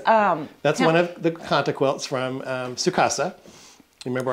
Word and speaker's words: kantha: You want to spell that for people? K A N T H A Okay.